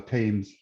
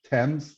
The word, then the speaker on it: Thames: with your with your on the thames thames sorry i've i've been pronouncing it wrong all day uh but even if